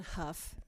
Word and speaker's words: Hough: Hi, my name is Huff. That's spelled H-O-U-G-H, just for the record. Nobody ever gets that right.